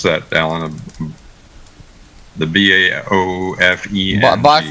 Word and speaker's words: Baofeng: How do you pronounce that, Alan? The BAOFENG. Baofeng radio.